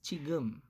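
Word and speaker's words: 지금: Hindi siya jigum. Okay? It's chigum. Mm-hmm. Kasi nasa first syllable yung character natin na ito.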